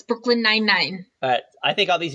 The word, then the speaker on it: Brooklyn Nine-Nine: No, it's Brooklyn Nine-Nine. But I think all these years I've been saying it wrong. I've been saying Brooklyn 99.